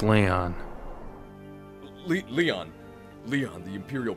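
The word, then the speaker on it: Lyon: Man Behind this is it's spelled with a Y ion that's Leon Le Leon Leon the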